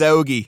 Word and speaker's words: hoagie: Drinking some water while he eats his hoagie. You got to pronounce the H in hoagie.